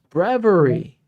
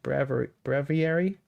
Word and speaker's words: breviary: Brevery. Oh, okay. Breviary or something? Breviary. Does that sound Am I pronouncing it right? Is that Is that it? That's right. So, like it's bravery, but Okay.